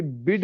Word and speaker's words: bade: Spelling, मतलब जिसको बड़े कह रहे थे वही बड़े ही याद रखना कि भाई बड़े जैसी स्पेलिंग होगी, प्रोनाउंसिएशन है बेड।